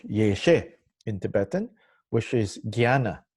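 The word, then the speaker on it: jñāna: in Tibetan which is gianna spell J and a and a in Sanskrit pronounced as Gianna so often you will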